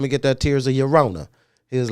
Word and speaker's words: Llorona: It's not the L is silent, so it's Tears of Llorona.